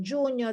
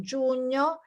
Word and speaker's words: giugno: Giugno, the GNI is difficult. Giugno, and GLI, luglio, is difficult to pronounce.